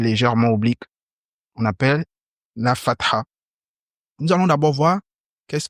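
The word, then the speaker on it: فتحة: cours nous allons étudier la harak de la Fath il faut bien prononcer on dit la Fath nous avons dit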